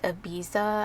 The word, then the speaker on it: Ibiza: I'm swatching that shade Ibiza.